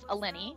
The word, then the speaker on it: Eleni: So I created a little column just for her, plus her name was Eleni, which rhymes with penny, so I thought that was cute.